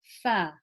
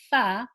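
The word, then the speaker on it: ف: your lower lip okay so is fur fur it's not far where I press into the dry part of my lower lip is to in a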